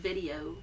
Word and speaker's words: video: just going to well the first one's easy it's video video like spelled like video yeah oh okay then